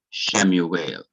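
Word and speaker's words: שְׁמוּאֵל: this case is that the wow takes the form of the long vowel shurek. That is our long U, our long U sound. So this is shurek, a long U sound, and it would be written not as we, but as oo, Shemuel.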